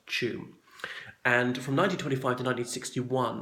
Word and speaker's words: Tuam: name T you am despite the spelling it's pronounced qu and from 1925 to 1961 that was a